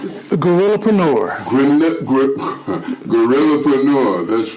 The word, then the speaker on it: Guerrillapreneur: How would you pronounce it? Gorillapreneur.